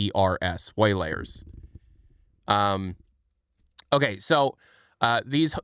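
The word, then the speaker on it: Waylayrs: Um there's some on disogg it's spelled w a y l a y rs. Way layers.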